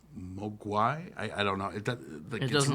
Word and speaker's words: Mogwai: In Cantonese, Mogwai means devil, demon, or gremlin. The Mandarin pronunciation is Mogwai.